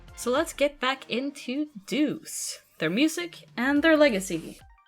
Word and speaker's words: DEUX: scores of future artists Deuce is pronounced like the English word Deuce d c but is